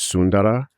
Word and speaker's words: Sundara: So my children's names are Sundara, or the more traditional pronunciation is Sundara.